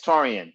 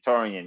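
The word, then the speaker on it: Taurean: him actually that's awesome is it t-a-u-r-e-a-n it is yeah oh yeah i pronounced it right yeah it's taurian taurian yes oh that's your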